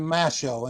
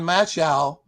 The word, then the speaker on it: Mashol: Now, my latest book is entitled, as you guys shown, From Slavery to Shipwright, the story of John Mashol, and that is spelled Mashol, as in show.